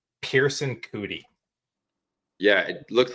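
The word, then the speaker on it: Pierceson: Pearson Cootie. Yeah, it looks like Pierce Session, doesn't it? It's Pierce as in I pierced your armor with SON on the end. That's the most incredible spelling of Pearson I've ever seen.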